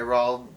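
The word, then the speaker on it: Roald Dahl: have the witches by raul oh i said it right that time i did not say ronald rawl doll roll doll raw bell roll dog this book creeped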